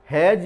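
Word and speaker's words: hedge: कहा जाता है, तो ये हैज बोला गया है, तो यहाँ पर डी को साइलेंट किया गया, यानी डी का उच्चारण यहाँ पर नहीं कर रहे हैं, तो ये जी बोला गया।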